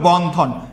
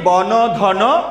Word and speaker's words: বন্ধন: একটা অ উচ্চারিত হচ্ছে আমরা কিন্তু পরের ন এর সাথে কিছু উচ্চারিত করি না।